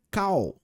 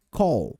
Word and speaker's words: call: Ele é um pouquinho mais estendido e um pouquinho mais acentuado, mais puxando para o lado do ó. Então é call, beleza?